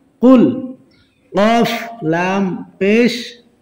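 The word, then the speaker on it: قل: আগে বলবেন কফ, তারপরে বলবেন লাম, তারপরে বলবেন পেশ। কফ, লাম, পেশ, কুল। কফ, লাম, পেশ, কুল।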